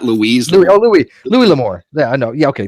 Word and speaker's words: Louis L'Amour: Then this clown mentioned Louise L'Amour. How do you pronounce the guy's name? L'Amour, not Louise. Louis L'Amour.